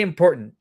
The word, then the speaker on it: important: about those important say important important you really pronounce the T oh of course it's